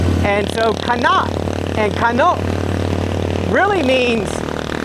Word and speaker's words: Kana: The female version of me is a Kana, K-A-N-A. And it's pronounced Kano and Kana.